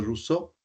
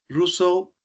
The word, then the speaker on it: Rousseau: eh un filósofo de apellido ruso se escribe roseau sí ruso habla de un personaje